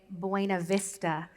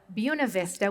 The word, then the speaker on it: Buena Vista: I don't correct people when they say Buena Vista instead of Buena Vista, which is, by the way, how the town voted to pronounce it in 1879.